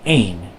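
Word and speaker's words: één: This word, spelled the same way but has the accent marks over it, is actually pronounced een.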